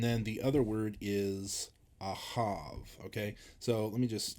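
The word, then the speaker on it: אָהַב: always got these confused Ava has the sound before the the hey ahav has the sound at the end of the words okay and so love the V sound in love is at the end of the word in Ava the V sound is earlier I think of like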